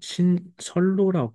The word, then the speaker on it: 신선로: 안에 음식을 뭐라고 불렀냐 신선로 불르는 거야 그래서 이거 선생님이 왜 여기 n이 없어요 그럴 수 있는데 우리 신선로 하더라도 발음이 신설로 발음을 하게 되는 거야 그래서 발음 기준으로 요렇게